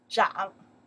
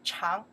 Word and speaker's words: 长: Okay, we pronounce the Zhang. In that case, this character we pronounce the Zhang, the meaning to grow, to appear. If I pronounce the Chang, the meaning is long.